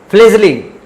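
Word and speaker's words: fledgling: इसके बाद है फ्लेजलिंग, यहाँ पे डी साइलेंट है।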